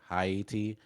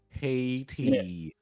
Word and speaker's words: Haiti: bunch of other languages it is pronounced like I but with an H so hi uh and to be